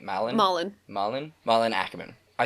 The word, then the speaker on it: Malin: One day, after attending his ex-fiancée's wedding, he stumbles into this lovely young lady named Lila, played by Malin Ackerman. That's how you pronounce her name, right? Malin?